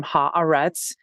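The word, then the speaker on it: Haaretz: and the second no pause between the second and the third so it's and what's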